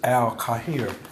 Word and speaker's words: Al Khayr: So then it's not khayr is the English way you pronounce it. He was like, it's al khayr.